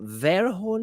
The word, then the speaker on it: Verhoeven: Paul Verhoeven, is that how you pronounce this? Verhoeven, yeah.